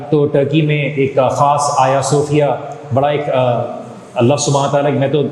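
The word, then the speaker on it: Ayasofya: آیا صوفیہ کے اندر، آیا صوفیہ جس کو اکثر لوگ حاجیہ صوفیہ کہتے ہیں، اصل میں وہ اسپیلنگ کا ٹرکی زبان میں آیا صوفیہ ہے.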